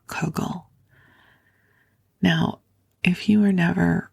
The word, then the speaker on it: kugel: by the Jewish dish known as cugle it's spelled k u g e l kugle now if you were